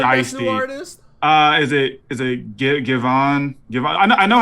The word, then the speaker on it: Giveon: Is it Givon? I don't know how to say his name. I know Giveon. Giveon.